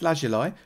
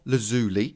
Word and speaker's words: lazuli: To enchant, you need 2 things: some lapis lazuli, or lazuli if you want to say it wrongly, and whatever it is you want to enchant.